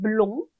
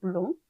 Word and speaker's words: blond: 남성 단수 형태는요, blond, 마지막 대가 발음이 없어요. blond.